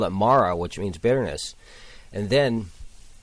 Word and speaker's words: Mara: thought of the title but the acronym is pronounced Mara M A R A and that's a name